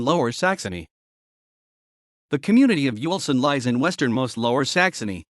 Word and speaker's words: Uelsen: yolsen german pronunciation lsn is a community in the district of graf shaft bentham and lower saxony the community of yuelsen lies in westernmost lower saxony on the border